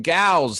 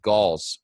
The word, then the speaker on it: Gause: all right quentin gals how you doing man i'm doing great great